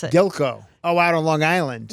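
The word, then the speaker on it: Gilgo: How do you pronounce it? Gilko.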